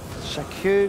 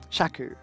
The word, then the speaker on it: Shaku: dealt with shaku shaku I've never heard it pronounced that way shaku is that just is that just a meat thing no I I no I've heard sunki prum pronounced like six different ways but I never heard shaku pronounced that way that could just be a me thing huh I don't hate it well now I'm self-conscious about it rhymes with a chew oh okay Stone Hill